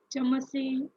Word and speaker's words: चमसैः: बालिकाः चमसे भोजनं खादन्ति. Please read this again. चमसे. Chamasaihi. चमसैः. चमसैः. There is a visarga, so you have to pronounce that also.